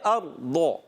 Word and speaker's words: أرض: اچھا بعض بچے پڑھتے ہیں اردا، اردا بھی نہیں پڑھنا. بعض بچے پڑھتے ہیں ارزا، ارزا بھی نہیں پڑھنا. بعض پڑھتے ہیں ارغو، ضاد سے، غلط. اور بعض غین کی تلفظ ارغو، ارغو، یہ ارغا بھی نہیں پڑھنا، یہ ہے ارضو.